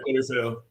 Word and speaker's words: Coliseo: yeah, Coliseo.